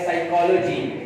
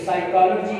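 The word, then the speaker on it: psychology: Silent P का सुने, जैसे आपने पढ़ा है साइकोलॉजी, तो साइकोलॉजी के अंदर P साइलेंट है, यानी यहाँ पर P के बाद अगर S आता है, P स्टार्टिंग पे होता है तो P साइलेंट होता है।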